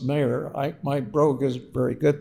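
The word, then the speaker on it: Meagher: We know that the leader of the Young Ireland group, Thomas Maher, it's pronounced it's spelled meager kind of, but pronounced Maher.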